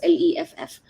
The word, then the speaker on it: Leff: I don't know if it's Leaf or Leff, but I don't know how to pronounce it. It's Leff.